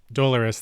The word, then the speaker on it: Dolores: uh i believe i'm saying it right d-o-l-o dolores dolores there we go so close oh okay and